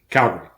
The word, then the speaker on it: Calgary: And I'm wondering, what is the proper pronunciation of Calgary or Calgary? Calgary.